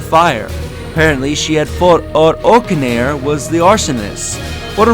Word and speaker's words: Olcadan: Oh, is it Orcanair? Is that how you say his name? I was saying Orichalcum, but okay, Orcanair. You can tell Oh, I didn't really care much about the name because I didn't think I would ever unlock him. You lose. So Orcanair, that's how you say his name properly.